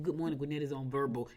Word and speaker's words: Vurbl: Like verbal. Yeah. But it's spelled VURBL. They just made it up.